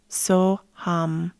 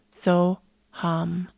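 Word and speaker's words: Soham: use the mantra of soam so ham it's spelled like s o h a m like soam some people say soam soam soam and that is the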